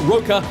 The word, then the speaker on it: Roca: More experienced, Luis Roca, taking on the mad Frenchman, Ilies Mardhi. Yeah, you pronounced his name correctly, Roca, so without butchering his name, he asked us to pronounce it with an R.